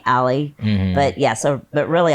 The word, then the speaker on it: Ali: after him but I I changed the pronunciation only CU I thought Ali sounded like a boy so my friends friends and professionally people call me Ally but yeah so but